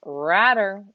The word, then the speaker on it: Radder: ends cohen a junior henry radder rhymes with ladder feels your hiccups will